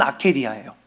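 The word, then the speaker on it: ἀκηδία: 여러분이 나태라고 하는 단어이 라틴어 단어로 아케디아라고 하는 단어가 있습니다.이 이 아케라는 단어의 원형이 우리 성경을 기록한 언어인 헬라어로 똑같이 발음은 아케디아예요.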